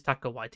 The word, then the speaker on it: Taika Waititi: It is Taika Waititi.